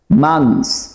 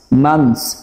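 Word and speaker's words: months: খেয়াল করেন, close close, মান্থস মান্থস। British ইংলিশে 3H এর উচ্চারণ হয়, বাট আমেরিকান ইংলিশে এই দুটি শব্দের 3H এর উচ্চারণ হয় না।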